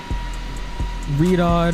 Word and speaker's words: Riyadh: Riyadh is how you pronounce it. Riyadh or Riyadh.